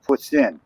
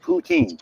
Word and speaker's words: poutine: Spell it or say it right. It's poutine. It's not poutine.